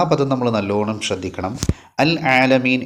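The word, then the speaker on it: العالمين: പദം നമ്മൾ നല്ലോണം ശ്രദ്ധിക്കണം അൽ ആലമീൻ എന്നുള്ള പദം ഉച്ചരിക്കുന്ന സമയത്ത് ഐന് വെളിവാകണം റബ്ബിൽ ആലമീൻ ലാമിന് സുക്കൂന് ഒഴിഞ്ഞ് പിന്നീടാണ് ഐന് പറയേണ്ടത് പല ആളുകളുടെയും കിറാഅത്തിൽ ശ്രദ്ധിച്ച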